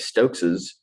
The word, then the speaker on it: Stokes's: that's uh hilarious um i grew up calling it stokes's where there's the kind of the double s pronounced and so this is the one that i gravitate toward myself but uh anyway you